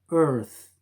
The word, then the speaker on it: earth: So this sound is equivalent to the th. For example, in number 1, we have EARTH. That is pronounced earth. Again, the th sound, earth.